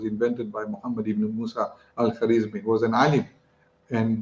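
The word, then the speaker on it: Al-Khwarizmi: Al-Kharizmi became, when it went into the Latin languages, countries where they spoke, they couldn't pronounce the kh, so they made it algorithmi. Algorithmi became algorithm.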